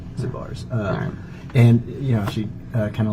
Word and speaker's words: Zabar's: It's a pretty famous grocery store, but like she's Zanzibar. No, it's Zabar. Zabar's.